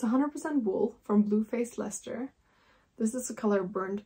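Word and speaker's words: Leicester: saw that she had some bluefaced Lester that's how you pronounce it bluefaced leester wool in our store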